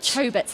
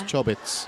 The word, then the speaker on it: Chobits: I always said Chobits as a kid, I don't know why. Well, it's close. You're just emphasising the O a little bit. It's Chobbits.